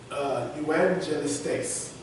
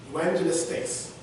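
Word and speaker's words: εὐαγγελιστής: The Greek word, evangelistes. Evangelistes. It is spelled E-U-A-G-G.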